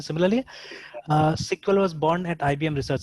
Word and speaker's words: SQL: तो जैसे SQL, आप SQL को SQL भी प्रोनाउंस कर सकते हैं, कोई दिक्कत नहीं है। ठीक है। बट पॉपुलरली इसको सिक्वल प्रोनाउंस करते हैं। ठीक है ना, बिकॉज अर्लियर इसका नाम क्या था, सिक्वल था इसीलिए।